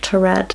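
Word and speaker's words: Taured: mysterious man from turret i think i'm pronouncing that right it's not a real country but from the videos i watched a lot of people saying tored so hopefully that is the right pronunciation so in 1951 a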